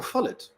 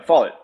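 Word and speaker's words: Follett: say um is that is that how you pronounce her name I I've only read about her Mary Parker fallet oh Mary Parker fet yeah fall it yeah um yes I'm thinking about if she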